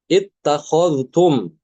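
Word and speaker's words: اتخذتم: Ya, di sini yang pertama, Imam Al-Kisai mengidghamkan dal ke ta ya pada lafaz berikut dimanapun berada di dalam Al-Quran. Ya, ittakhadtum, dia dibacanya Al-Kisai, dia dalnya masuk ke ta.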